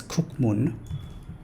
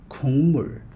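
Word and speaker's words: 국물: Next word, it's some people incorrectly pronounce this word as kukmun, but it's kukmul, but it's not kukmul, it's kungmul, because of the nasalization rule.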